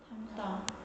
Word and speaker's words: 담다: 이거는 어때요? 담다. 얘도 된소리 되는 거 느껴지죠?